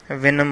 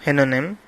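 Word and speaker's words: Houyhnhnm: to venom land or hynonym land whatever it is pronounced uh although both are correct venom or hennanim the horses there were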